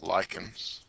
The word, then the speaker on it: lichens: h en looks like lichens but they're it's pronounced lichens and mosses and these two types of organisms